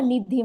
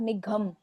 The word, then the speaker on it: निधि: फर्क कैसे आपने किया जैसे ये निधि बोल रहा है ना निधि नॉट निघम घ नहीं बोल रहा है ये तो इसका